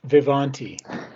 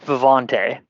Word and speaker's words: Vivanti: you want to plug vivanti so it's actually pronounced vivante oh sorry um but